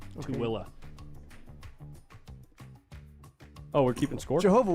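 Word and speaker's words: Tooele: No, in Tilla. What the hell? Yeah. It's outside of Salt Lake City. That sounds fun. Yeah. Towilla. All right. Subject change. It's spelled T O E L E. Tilla.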